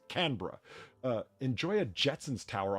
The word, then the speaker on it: Canberra: It's Canra.